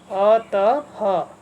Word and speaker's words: अतः: इसका उच्चारण आधे ह के जैसे होता है, तो इसको हम, इन दो बिंदियों को हमने पढ़ना है ह, अतः।